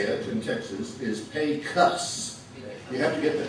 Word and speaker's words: Pecos: the way we say it in texas is pay cuts you have to get the cuss so what